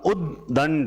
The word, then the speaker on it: उद्दंड: उसके बाद उदंड नहीं होता, उद्दंड। प्रोनाउंसिएशन मैंने कहा था उच्चारण सही करो, अपने आप सही होगा। उद्दंड क्या होगा, उत धन दंड, तो फिर शब्द क्या बना, उद्दंड।